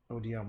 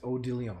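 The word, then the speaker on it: Odilon: His name is Odilion. That's right. It's not Odin Redon.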